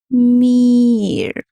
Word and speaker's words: মীর: মীর উচ্চারণটা হবে একটু টেনে টেনে মীর এরকম বুঝতে পারলে পারলাম বসো